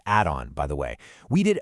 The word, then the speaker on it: Adon: So to cut through all that noise and confusion, our team at Adon Estates, that's pronounced Adon, by the way, we did a major deep dive.